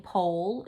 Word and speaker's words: pole: I took my new fishing pole to catch 5 fish. Well, I see a silent E there, a sneaky E. So pole and another sneaky E, 5.